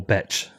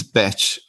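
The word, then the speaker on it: Bech32: Is it pronounced Beck or Betch? I think it's Batch. When Peter Willie wrote the BIP, he said, hey, let's call it Batch 32 addresses because it sounds like Batch.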